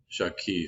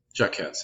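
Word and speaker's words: Jaques: also an interesting character jacques or jacquez jacquez i think would be the better pronunciation who kind of isn't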